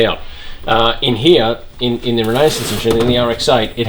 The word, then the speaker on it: Renesis: So this is the RX-8 Renesis, that's how you pronounce it, plate.